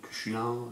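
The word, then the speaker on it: Cú Chulainn: dire, du mythe de Cuchulain, Cuchulain, pour le prononcer à la française.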